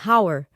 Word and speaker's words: hour: Já em hour, o H é mudo, e a palavra começa com o som de uma vogal, como aor, exigindo o uso de an hour.